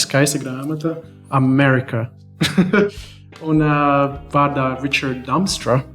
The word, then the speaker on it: Ričards Damstra: Un vārdā Ričards Damstra. Is that the right pronunciation? Yeah.